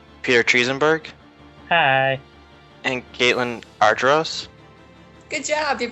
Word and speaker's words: Argyros: and Caitlin Argyros. Good job, you pronounced it right.